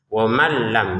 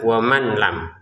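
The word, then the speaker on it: wa man lam: Waman lam. Jadi bacaan yang benar adalah masukkan nun ke lam sehingga cara bacanya wam lam bukan waman lam lagi ya. Dan tidak ada dengungan menjadi wamallam ya.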